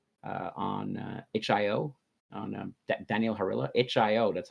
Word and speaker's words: itch.io: HIO, that's how you say it, right?